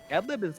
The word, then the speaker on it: Adlib: It's silly, but no, it's Adlib is fun to say. I think that it rhymes with MLiG, sort of.